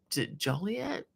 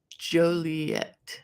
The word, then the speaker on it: Joliet: Um, and uh, Jan says, "The storms haven't reached me in uh, Juliet. Pronounce Joliet."